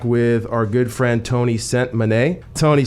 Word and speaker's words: Sentmanat: Sentmanat. Sentmanat. Exactly how it sounds.